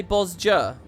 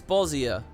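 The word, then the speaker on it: Bozja: she pronounced the y you guys say boss jer bossier everybody it's bozier when they do our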